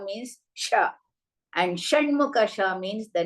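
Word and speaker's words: श: I keep repeating for some people instead of saying Sha, they will say Sa. So note down that Shankara, Sha means Sha.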